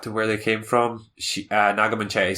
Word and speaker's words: Naga Munchetty: there was that story from BBC Breakfast with Naga Munchetty. Did I pronounce that correctly?